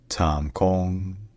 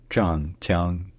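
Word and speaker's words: 湛江: First, in Cantonese, this city is called Tam Kong, Tam Kong. And in Mandarin Chinese, the city is called Zhanjiang, Zhanjiang, Zhanjiang, Zhanjiang.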